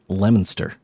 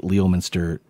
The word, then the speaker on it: Leominster: and say that's not how it's pronounced it's pronounced lemonster so I know I I went back and listened to part of that and I just kept on saying Leominster is the town and the Leominster State for